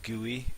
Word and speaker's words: GUI: say the ui or you could say the gui or you can have something that's one syllable so it's the gui sorry one syllable is better than two or three syllables don't you remember him